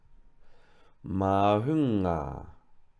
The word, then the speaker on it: mahunga: So we're going to say ma, hu, nga, mahunga. So again, you can break that down. The first vowel is a long A, ma, then break down the next syllable, hu, hu, and the final syllable, nga, ma, hunga, mahunga, head.